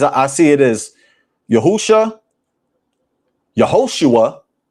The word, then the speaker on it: Yehoshua: The name of the Messiah, from my research, is pronounced Yahusha, Yehoshua, Yeshua.